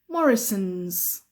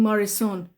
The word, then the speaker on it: Morrisons: end we call it Morrisons Morrisons Morrisons Morrisons Morrisons okay so it has Za I can see people are saying marison no no no no it has at the end Morrison's Morrisons thank you Morrisons